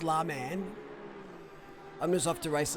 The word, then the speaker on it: Le Mans: pyro's picture thing no it's called it's pronounced la man i'm just off to